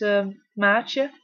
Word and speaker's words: Maartje: I'd let you know how to pronounce my name first it's a matcha so it's not that hard I don't think and